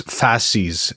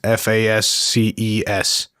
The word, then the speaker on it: fasces: I'm not sure if you pronounce it right, but it's fasces. Fasces.